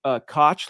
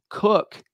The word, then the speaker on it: Koch: last name, spelled K-O-C-H, you would think like Koch, like a lot of famous people have had that name, for example, one in particular, New York politician. But no. Cook, that's how his family pronounces their name, K-O-C-H, but pronounced Cook.